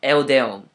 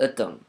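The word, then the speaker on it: Euddeum: They spelled it E-U-D-D-E-U-M. When most people see that, they pronounce it as Eudeum, which is not my name. My name is Eudeum. Now, Eudeum, to get that correctly, is extremely hard.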